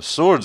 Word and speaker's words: sword: i'm kidding i'm bullshitting you don't pronounce the w you sound funny sword